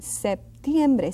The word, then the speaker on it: septiembre: Septiembre. Now let's pause here a little bit so I can explain you something. Septiembre. See that P? It is pronounced slightly.